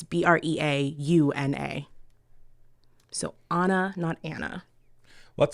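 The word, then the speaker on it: Breauna: that it can't be simple it's b-r-e-a-u-n-a so Anna not Anna what's like my daughter's name it's Adriana not Adriana even though it's spelled a d-r-i-a-n-n-a Yeah Anna Anna not Anna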